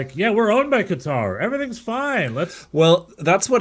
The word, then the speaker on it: Qatar: somehow Qatar, which apparently is correctly pronounced Qatar.